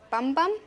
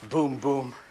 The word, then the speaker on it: Bum Bum: my real name your your name is Dr bum bum uh actually it's pronounced boom boom I had to change